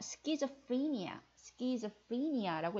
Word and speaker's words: schizophrenia: schizophrenia라고 읽어야 되는데요.